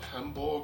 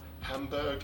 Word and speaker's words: Hamburg: Well, we are covering the brand new startup out of Hamborg (Deutsch pronunciation) or Hamburg in Germany and that is CR4NKUP.